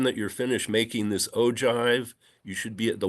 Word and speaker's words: ogive: You also have something called an ogive, is how that's pronounced.